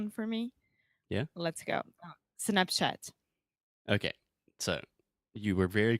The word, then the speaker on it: Snapchat: little bit of Snapchat, so you're saying shh, but it's ch. Okay? Yeah, I was saying just like chato, Yeah. but it's like chi. So Snapchat. Perfect. And also, this is the same open A sound that we have in WhatsApp.